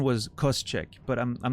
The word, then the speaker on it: Koscheck: Yeah, so my understanding, if it's the same as the MMA fighter, the pronunciation was Koscheck, but I'm not sure if that's actually how you pronounce it.